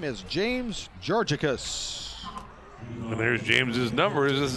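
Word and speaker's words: Georgakas: a k a s we are it is pronounced georgicus and the first pitch to Simons is fouled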